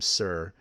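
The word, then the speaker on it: Cyr: Rogers and I assume you pronounce that name Sir, C-Y-R. I believe.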